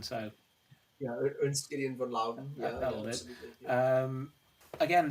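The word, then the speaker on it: Ernst Gideon von Laudon: I'd certainly say it that way, but Alex is our expert on the German pronunciation, so yeah, Ernst Gideon von Lauden.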